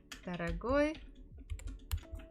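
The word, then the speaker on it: дорогой: today is expensive expensive if you check the dictionary it will say stress falls on the final syllable hey let's look at masculine who remember Ed gift taragoy padarak that wow this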